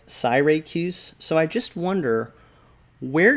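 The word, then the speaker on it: Syracuse: in certain places and yeah people do pronounce this different ways but i have never heard the pronunciation that i'm reading here and it says and landing at cyracuse cyracuse we tarried their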